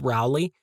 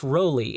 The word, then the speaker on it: Rowley: relly which I found out that's how you pronounce his last name I always thought it was Rowley but it is Jeff roelly and the reason why I know this is